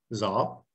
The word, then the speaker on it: dó: It looks like do, but in Vietnamese, this is pronounced zo.